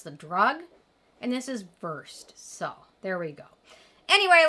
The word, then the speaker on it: Versed: It's Versed. But don't go back to my old videos when I said Versed, because that's how you pronounce the drug. And this is Versed.